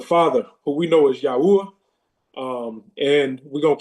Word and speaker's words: Yahweh: Um, we're just going back to the ancient way um of the pronunciation of of the father's name, which is Yahweh instead of God and then um Yahusha instead of Jesus.